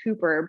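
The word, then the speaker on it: ὑπέρ: prefix that um of it's actually pronounced hooper but it's spelled like hyper and so it's this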